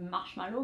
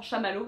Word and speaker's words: Chamallow: un bon bout conrad maintenant on a des fois en france raconte yves marshmallow mais c'est vraiment chamallow c'est vraiment la marque sochaux malo et je